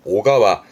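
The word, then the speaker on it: 小川: 앞에 소천 썼네요. 그러면 작은 시내를 말합니다만 발음이 오가와 이땐 소발음이 오라서 발음은 오가와 오가와네 천자 관련 단어들은이 정도면 충분히 소화됩니다.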